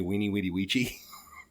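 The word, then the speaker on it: Veni, vidi, vici: Did you know that in classical Latin, the V's were pronounced like W's. So Vini Vidi Vici is actually Weenie Weedy Weechy.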